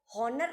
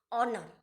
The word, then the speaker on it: honour: यहाँ पे देखो हॉनर नहीं पढ़ेंगे, इसको क्या बोलेंगे, ऑनर। एच जो है वो साइलेंट है तो ऑनर हो जाएगा।